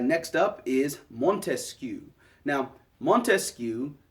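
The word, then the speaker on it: Montesquieu: Now, Montescu, you notice his name has three syllables in it, right? Montescu.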